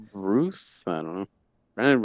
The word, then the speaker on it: Routh: Ruth? I don't know. Brandon Routh.